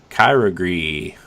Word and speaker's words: Kyogre: Water Pokemon will appear more frequently in raid battles, including the return of legendary Pokemon Kyogre.